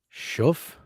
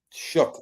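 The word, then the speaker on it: Shough: Wait, what is Shuff? Shook. Crabs can't be correcting pronunciation.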